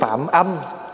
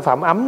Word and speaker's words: phạm âm: Không dạy người nói ác, thế nên về sau được tướng phạm âm. Phạm âm chứ không phải phạm ấm nha.